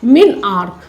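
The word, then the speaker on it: menarche: लोग क्या बोलते हैं, मिनआर्क, ARCH, मिनआर्क।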